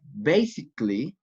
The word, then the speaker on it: basically: Basic is 2 syllables, but basically 3 syllables, not 4.